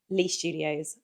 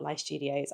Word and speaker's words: Lie Studios: It needed the necklace, which apparently I'm learning is called Lee Studios, not Lie Studios.